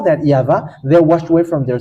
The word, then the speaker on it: יהוה: And it's the book of Torah, which says that we call it YAHVAH, and that's how we read it in heaven of heavens. YAHVAH. And those who call that YAHVAH, they're washed away from their sin, and they cannot sin anymore.